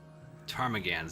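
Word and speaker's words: Ptarmigans: Druid is probably going to be it's one of the classes that um P is silent. It's a bird. Pronounce it. Uh tarmagans.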